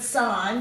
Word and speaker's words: sign: it com sign now if you can spell the word sign which comes from the word signal you can understand how we get that to be a silent g so the first word